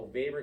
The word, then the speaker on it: Weber: understand those again that's Max Weber but it's spelled with a W for his last name because it's German okay so Baber came up with those six elements of a